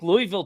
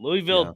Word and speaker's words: Louisville: But I think Louisville, too. Louisville, definitely. You got to bring that back. Yeah. Got to say it right, though. It's Louisville.